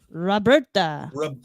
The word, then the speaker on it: Roberta: Roberta. You got to roll your R's. Roberta.